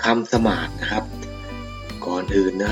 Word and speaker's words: สมาส: คำ สามารถ นะ ครับ อ้าว คำ นี้ อ่าน ว่า สมาส นะ ครับ นัก เรียน คำ สมาส